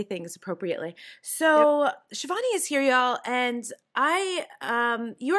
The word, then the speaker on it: Shivani: Shivani is the proper pronunciation for your name, right?